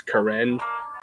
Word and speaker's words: Karen: It's spelled Karen, but it's Karen. It's pronounced. The two major dialects here in Fort Wayne are Ska, and Puel.